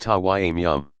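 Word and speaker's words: tayammum: which case it is called taiyamium pronounced tawaimyam clearly the idea is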